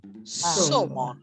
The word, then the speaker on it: salmon: The L is silent. Salmon.